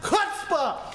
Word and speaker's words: chutzpah: It's pronounced chutzpah!